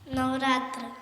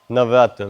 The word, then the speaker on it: Navaratra: Somebody tell me, how is it pronounced in Sanskrit? Sonali? Navaratra. Navaratra, very good.